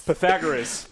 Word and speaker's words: Pythagoras: it wrong this hurts me Alex help us Pythagoras that's his name pum theorem all right we're